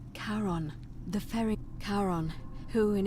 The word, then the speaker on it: Charon: Only your pronunciation is a little... It was C-H-A... Charon.